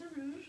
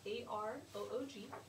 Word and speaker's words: Aroog: And another example, my name is Aroog. I spell that A-R-O-O-G.